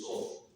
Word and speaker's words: SOFR: The only way to pronounce SOFR is actually SOFR. You pronounce the SOFR so that it doesn't disturb people's tongue.